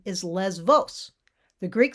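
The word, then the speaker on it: Lesvos: the greek spelling and the letter there which is the equivalent to the letter b is beta the beta and it's pronounced v but in english the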